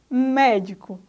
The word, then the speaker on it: médico: Médico. Aí a sílaba tônica é mé, ou seja, a antepenúltima.